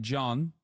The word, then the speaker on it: Can: I know Efe John. In Turkey, we put John after every fucking name. Okay? Like pretty much every goddamn name. Or John in and of itself. C-A-N.